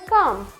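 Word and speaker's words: comb: के बाद में अगर बी आएगा तो बी साइलेंट होगा तो क्या हो जाए कलेम नेक्स्ट आता है कम कम का है वेर इ कम बोलते हैं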